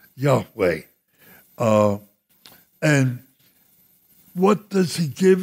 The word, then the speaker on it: Yahweh: it i am yahweh he uses the form there y-h-w-h which we think is best translate or pronounce yahweh and what does he